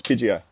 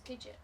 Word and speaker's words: Pidgeot: I don't even know if it's Pidgeio. That's Pidgeot.